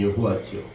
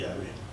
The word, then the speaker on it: 야훼: 하나님의 이름이 여호와죠. 히브리 말 발음 그대로 하면 야훼입니다. 야훼.